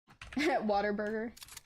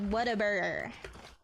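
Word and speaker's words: Whataburger: Waterburger. Yeah, that's how uh some people get mad. It's like what a burger. You got to say it like what a burger.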